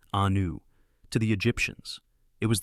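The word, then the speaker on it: Iunu: In Egypt, the most sacred religious center was Heliopolis, known in ancient Egyptian as Ayunu, pronounced Anu.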